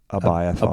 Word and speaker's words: Abiathar: Yet, how do you pronounce that again? Abiathar. Abiathar. I always grew up however you want. I always grew up saying it something different. Say it. Say it. Abiathar?